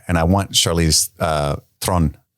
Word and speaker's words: Theron: I think that's how you say it in the South African way. Theron, I think. I've talked to I've said it wrong enough on the internet a bunch enough times where a lot of South African people have reached out to me like, "It's kind of like Tron, but with a rolled R."